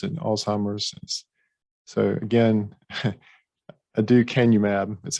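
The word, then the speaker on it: aducanumab: very expensive medication and again again it's it's pronounced adieu canub is the is the generic so and this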